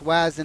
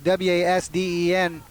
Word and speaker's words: Wasden: I believe it's Wasden. It's W-A-S-D-E-N. Wasden.